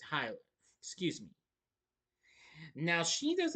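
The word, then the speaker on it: Hüller: Yeah, it's not Huller. It's Hyler.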